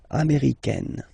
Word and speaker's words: américaine: Okay, it's really open, this A-I, américaine.